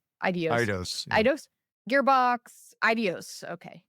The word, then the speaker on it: Eidos: Eidos.